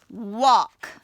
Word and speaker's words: walk: We went for, F-O-R, a long walk, W-A-L-K. I know that is another word where the L is silent.